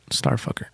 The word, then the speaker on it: STRFKR: Number 2, Starfucker. What the fuck is that? You've never heard Starfucker? No. Oh my God. It's actually like it's spelled STRFKR, but Starfucker.